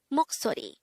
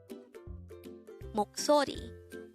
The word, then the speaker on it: 목소리: Moksori. This is pronounced as a three-syllable word. The first syllable is mok, second syllable is so, and third syllable is ri.